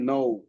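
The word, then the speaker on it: know: ও double U খেইটা silent হলে হয়ে যাবে নো তারপর হছে সাইলেন্ট ডবলিউ এটাও সহজ ডবলিউ এর পরে যদি আর থাকে তাহলে ডবলিউটা সাইলেন্ট হয়ে যায়।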